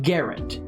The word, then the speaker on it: Garand: Now, his name is pronounced Garand.